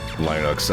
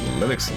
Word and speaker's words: Linux: the phone with somebody first time i pronounced it linox out loud it was like you mean linux like i mean i guess